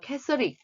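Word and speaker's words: Catholic: 본토 발음은 캐서릭 이렇게 표현을 하고 있지요.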